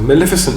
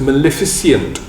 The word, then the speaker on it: maleficent: the other day that i um misspelt and mispronounced the word maleficent so maleficent means doing bad things and i always thought it was maleficent i was putting an extra eye in i was wrong i